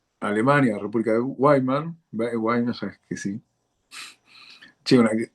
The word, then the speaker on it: Weimar: No sé si Gabriel me corrige, o Weimar, no sé cómo se pronuncia en alemán. Weimar.